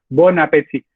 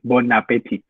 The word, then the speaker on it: bon appétit: Kenapa ini bacanya nggak bong, Kak? Kayak bonjour atau bonsoir. Karena dia dipisah terus pas ketemunya huruf vokal. Kalau misalnya tadi ketemunya huruf mati, terus apalagi disambung ya, kayak bonjour misalnya. Ya bacanya bonjour. Gitu. Ini karena ketemu huruf hidup jadinya mati dia.